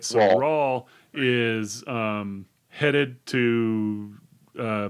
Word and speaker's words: Raul: as well so now raul raul sorry they say very specifically it's spelled raul but it says very specifically in the book that it's pronounced like paul so it's raw right so rawl is um headed to